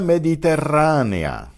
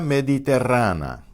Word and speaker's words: mediterránea: The 2 strong vowels at the end are 2 syllables.